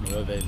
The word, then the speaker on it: Nueve: It's Nueve Leo. Why is it Nueve? That's how you say 9 in Spanish.